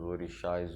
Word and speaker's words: orixá: Então a palavra orixá vem do idioma Yorubá e a sua grafia correta se escreve dessa forma que vocês estão lendo aí, O-R-I-S-A com o acento, né, os acentos, só que dessa forma escrita, o S tem som de X, tá?